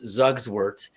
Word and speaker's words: Zugschwert: My last name is Zugswert, and I don't even say it right. That's right. It's Zugschwert. Pronounced Zugswert or Zugschwert, or if you're saying it in German, Zugschwert.